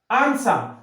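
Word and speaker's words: answer: আনসার, আনসার এ এন এস ইয়ার, ডাব্লিউটা কিন্তু উজ্জ আছে, এ এন এস ডাব্লিউ ইয়ার, এই ডাব্লিউ উজ্জ আছে, তাই না?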